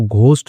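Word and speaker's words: ghost: हैं घोस्ट्स are strongest इसको घोस्ट नहीं पढ़ते घोस्ट पढ़ते हैं। एच जो होता है वो साइलेंट होता है।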